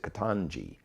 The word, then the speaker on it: Ketanji: i had to learn i heard the judge pronounce her own name she said katanji it's an african name like onge catanji brown